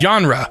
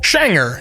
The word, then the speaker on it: genre: Swedish phonetics the spelling would imply that it's pronounced genre however it's actually pronounced schanger which is totally unrelated to the spelling I